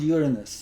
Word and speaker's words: Uranus: uran's it will cut travel over uranus yeah that's how to say it i mean uranus is